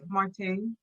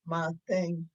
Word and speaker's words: Marteng: So, comment on prononce? Marteng. Marteng.